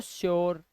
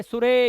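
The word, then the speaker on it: sure: ऐसे ही यू के बाद आ रही तो श्योर, योर, ओ का साउंड ऐसे ही होता है क्योर। अब ये कुरे, सुरे या पुरे मत पढ़ लेना, ये ओ का उच्चारण दे रहे हैं, ठीक है।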